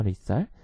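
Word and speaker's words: lethal: 뭐예요 2 설 자 dh 발음에 주의해야 겠죠 리썰 죽을 수 있는 치사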